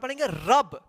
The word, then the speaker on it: रब: पढ़ते समय जहां पे अंत हो यानी जो लास्ट अक्षर है वहां पे आपकी साउंड नहीं आता है यानी उच्चारण में आपके साउंड वहां पर हम नहीं लाएंगे ठीक है इसको रवाना